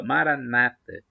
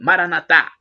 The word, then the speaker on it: Maranata: aramaico dialeto de Jesus Maranata como dizem os protestantes ou evangélicos com a crônica na penúltima sílaba Maranata nós católicos dizemos com a tônica na última sílaba Maranatha mas não importa somos todos